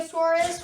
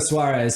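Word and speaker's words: Suárez: we got I think it was either Eugenio suurus which I said wrong in the second episode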